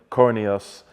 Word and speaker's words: Coroneos: Today I've got my man, Caleb Coroneos. Is that how you say it? Coroneos, yeah.